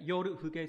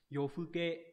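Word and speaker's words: 夜更け: Yofuke hoặc là yorufuke có hai cái cách đọc, thường là người ta đọc là yofuke nhiều hơn.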